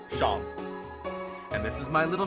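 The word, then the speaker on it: Seam: better to do than name is sham pronounced sham and this is my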